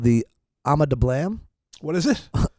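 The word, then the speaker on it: Ama Dablam: Called the Ama de Blam. What is it? Ama de Blam.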